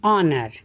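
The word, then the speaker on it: honor: की आएगी तो क्या लगेगा, एन आर, एन ऑनर takes if the letter H is audible.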